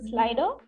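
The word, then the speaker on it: Slidr: We so also have Voodoo Val saying font name as slider, like S-L-I-D-R, but pronounced as slider.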